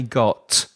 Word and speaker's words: got: Because I'm from the south of the UK, I don't pronounce my T's very clearly at the end of the word. So I don't say got, I exaggerated. I don't say got, I say got. It's called the glottal stop, that T that disappears in my throat when I'm pronouncing it at the end of a word.